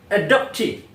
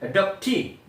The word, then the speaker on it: adoptee: And then berikutnya teman-teman, ya, adoptee. Ya, cara bacanya adoptee. Tekanannya di akhir, teman.